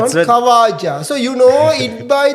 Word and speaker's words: Khawaja: So there is a man called Kawaja Koja Usman Kawaja that's Kawaja. So you know it by the different pronunciations different names because if you when you